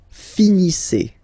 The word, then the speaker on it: finissez: Vous finissez. Okay, a Z at the end gives you the sound E.